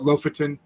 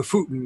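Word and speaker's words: Lofoten: know right i think most americans call it loaferton uh but that's the futin is the proper pronunciation and boy is this when however you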